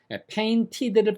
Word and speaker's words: painted: I have painted 그러면은 painted를 빨리 하면 painted 이렇게 발음됩니다. T 발음이 N에 동화되니까 그림이 완성됐다는 뜻이고 I have been painting 그러면은 지금도 그리고 있는 중이라 미완성인 거예요.